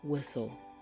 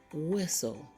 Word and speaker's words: whistle: we have white and whistle say the words after me white whistle did you hear the h sound no because the H sound is silent the H is also